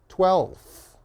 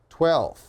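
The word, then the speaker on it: twelfth: example if we cut that F imagine it is not there 12 okay that's a little bit easy easier you can just say 12th 12th okay so again 12th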